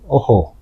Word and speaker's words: Ojo: However, Spanish people call you Ojo. Oh, I see. That's true, isn't it? So, because the J sounds different in Spanish.